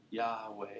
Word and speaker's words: Yahweh: Some people say Yahe, right? Yahweh is the way this is pronounced. This Y h wah. Say that. Yah. It's got a breathiness to it, doesn't it?